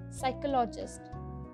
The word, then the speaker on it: psychologist: developer next is psychologist that p is silent here psychologist mathematician mathematician that he